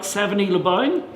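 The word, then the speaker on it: Savigny-lès-Beaune: So it tasted like Savigny Le Bon. But instead of Savigny Le Bon, I call it Stephanie the Gnome, because of course it rhymes.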